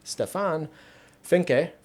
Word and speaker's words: Stefan Finke: He's going to he's on a separate audio channel than me and Stefan Finke, that's how you pronounce it.